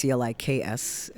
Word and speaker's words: Cliks: Well, the band's called the Cliks, so it's Cliks.